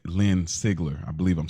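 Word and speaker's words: Sigler: a good scene uh from Jamie L Lynn seigler I believe I'm saying it right but seagler seagler thank you close enough close enough let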